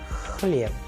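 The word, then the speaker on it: хлеб: Kh in Khan. And with the help of a sample Russian word, we can also learn this particular sound of the Russian letter H, as in chlieb, chlieb, which means bread. So these are certain sounds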